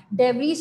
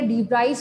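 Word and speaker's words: de Vries: डेवरीज कहें या डीब्राइज कहें एक ही बात है, ठीक है, अलग अलग प्रोनाउंसिएशन जो आप प्रोनाउंस करें, लेकिन बेटा आपने क्या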